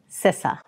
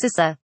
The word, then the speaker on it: CISA: a hotly debated topic, and that is the pronunciation of my agency. It's CISA. CISA. CISA. Seriously, it's not that hard. It is pronounced CISA.